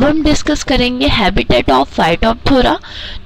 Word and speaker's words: Phytophthora: ठीक है, पी H silent रहता है, पी साइलेंट। तो फाइटन का मतलब है प्लांट एंड थोरा का मीन्स है डिस्ट्रक्शन। तो मीन्स होता है फाइटोफथोरा का कि जो कि